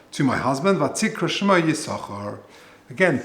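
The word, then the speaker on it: Yissachar: So the first sin of Yisachar we pronounce. The second one we don't.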